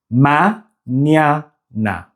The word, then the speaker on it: mañana: The second syllable has the ny sound. Ma-nya-na. Ma-nya-na.